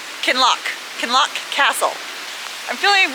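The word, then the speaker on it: Kinloch: So, I know that's lock can lock.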